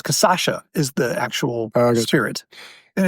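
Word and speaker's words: cachaça: Jambu is the plant, Jambu, and it's casacha is the actual spirit.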